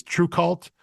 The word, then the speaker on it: TRVEKVLT: to me okay, yeah, because at it's spelled TRVEKVLT. So Right. the U's are both V's, but I believe it's supposed to be True Cult.